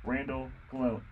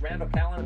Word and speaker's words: Randall Callan: We happen to have him as a guest today, Randall Killian. Isn't that right? Am I saying it right or am I saying it wrong? Not quite. It's Randall Callan, but it's a pleasure to be on your show.